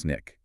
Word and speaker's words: SNCC: So, first you have SNCC, spelled SNCC, usually pronounced SNICK.